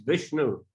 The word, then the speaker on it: Vishnu: Same with Vishnu. Thais pronounce Vishnu. Как Вишну, например, на тайском произносится как Вишну. But it's written, if you pronounce it in a Sanskrit way, it's Vishnu.